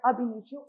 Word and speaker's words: ab initio: इसको प्रोनाउंस किया जाता है एज अब इनिशियो.